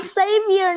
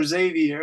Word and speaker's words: Xavier: see Ryan good I'm saavor not savior wait one more time savior yes so you pronounce the X as an S you say savior yeah